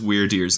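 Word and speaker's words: Wyrdeer: the coolness that is weird dear's name so obviously weird like strange right but the way that it's spelled w-y-r-d is an old english word meaning one's fate or destiny so it's really the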